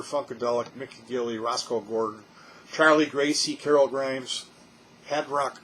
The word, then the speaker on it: Charly: a copyright strike um it's charlie records and it's spelled c-h-a-r-l-y it's a british record